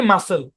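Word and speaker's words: muscle: আচ্ছা, শব্দের উচ্চারণ কি? মাসল। কি উচ্চারণ? মাসল। মাসল মানে হচ্ছে পেশি, বুঝতে পেরেছেন? মনে রাখবেন, লাল কালি দিয়ে দিছি, জাস্ট মনে রাখবেন এখানে মাসল শব্দের মধ্যে সি সাইলেন্ট।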